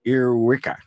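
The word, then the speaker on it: ēarwicga: Well, it turns out that the earwig is earwiggler in Anglo-Saxon is pronounced earwicka.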